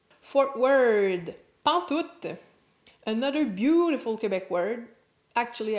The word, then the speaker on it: pantoute: So, pantoute is the contraction of pas en tout, pantoute, pantoute, with the last T being pronounced.